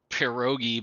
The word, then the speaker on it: pierogi: So I feel like I mean, I had pierogi before I had milk. pierogi, roll your R, you Oh just my you God.